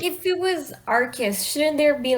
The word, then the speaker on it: Arceus: mood i know um arceus is supposed to be pronounced arcus but i cannot say that i'm so used to arceus yeah same here the